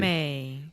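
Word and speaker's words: résumé: Yeah, but with the American English pronunciation. Resume.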